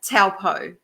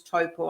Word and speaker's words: Taupo: Now you grew up in a place called Taupo. Yep. Is that right? Toe as in foot and paw.